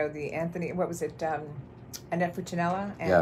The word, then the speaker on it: Funicello: Annette Funicello. Yeah, Funicello. Yes, Funicello rather. Yes, mispronounced it, but.